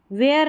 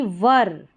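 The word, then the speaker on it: were: kindness and truth fullness वेयर नहीं वर वर पढ़ना है वर मोर वैल्यूएबल वैल्यूएबल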